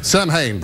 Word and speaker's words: Samhain: Oh, yes, it's Sam Hain today. It is. Good old Sam. Sam Hain. Yeah. It's pronounced Samhain. I call it Sam Hain.